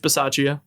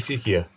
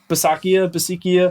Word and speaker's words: Bisaccia: They're playing inspired football under Rich Bisaccia. That's how you say his name. I thought it was Basikia. Bisaccia, Okay.